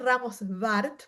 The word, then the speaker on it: Ramos-Warth: eh, bueno, soy Ramos Bart porque estoy casada con un alemán y la W se pronuncia como una B en España, así que bueno, por ahí va.